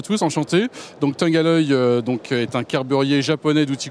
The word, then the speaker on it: Tungaloy: Et vous le prononcez bien, parce que moi, je disais Tungaloy, et monsieur William Mayence, qui est le directeur général de l'entreprise, m'a corrigé. Alors, Tungaloy, qu'est-ce que c'est?